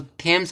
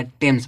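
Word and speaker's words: Thames: तो इसको क्या पढ़ेंगे टेम्स इसको थम्स नहीं पढ़ा जाएगा टेम्स पढ़ा जाएगा टेम्स माने टेम्स नदी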